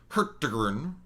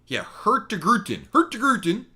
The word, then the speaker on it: Hurtigruten: I can get you the one, definitely the Hurtigrun, which is not pronounced right. This would be, Hurtigruten.